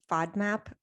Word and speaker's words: FODMAP: I don't know a lot about FODMAP. Is that how you pronounce it?